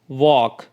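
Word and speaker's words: walk: जैसे वॉक palm काफ अब यहां पर देखिए we sorry W ए एल के यहां पे एल जो है वो साइलेंट है प ए एल एम में एल साइलेंट है और सी ए एल एफ में एल जो है वो साइलेंट है और इसको हम किस तरह से रीड आउट कर रहे हैं वॉक पाम काल्व तो इन तीनों वर्ड्स में एल जो है वो साइलेंट है उसकी साउंड नहीं निकल रही है ठीक है इसी तरह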